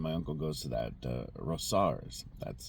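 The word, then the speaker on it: Rosauers: My aunt and uncle live there in Missoula, and my uncle goes to that Rosar's. That's how you pronounce it.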